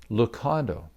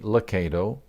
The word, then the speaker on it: Lucado: of my last name is it locato or is it lukado now for the record we say locato but many have said it both ways confusion over the name